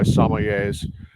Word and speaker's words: sommelier: little bit intimidated by sommeliers because maybe they don't even know how to say it. It's sommelier or just somm for short.